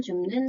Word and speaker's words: 줍는: 알밤 줍는 다람쥐. 줍는은 어떻게 발음하면 좋을까요? 자, 받침의 비읍이 두 번째 음절 니은의 영향을 받아서 미음으로 변화하기 때문에 표준 발음은 줍는입니다.